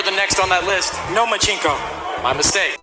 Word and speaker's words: Lomachenko: I think you said his name wrong. It's Nomachenko, because he doesn't want to fight me.